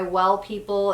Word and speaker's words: W3LL People: This is by Well People. It's spelled W3LL People, and this is their Bio Brightener Invisible Powder.